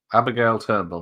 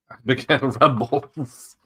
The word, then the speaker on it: Abigail Turnbull: Abigail Turnbull, not Abigail Rumbles.